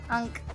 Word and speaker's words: ankh: Trying to get the Ankh. Ankh, yep. Ankh. Oh, that, I will never pronounce that right ever.